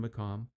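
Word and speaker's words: maqam: Because this shows, for instance, it's spelled M A Q M. That tells you it's it's more the Arab M and not the Turkish MOM.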